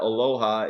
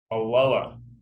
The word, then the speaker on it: Aloha: It's not Aloha. It's Aloha. Aloha. You will be corrected.